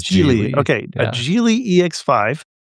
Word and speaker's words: Geely: A Geely or Geely? It is Geely.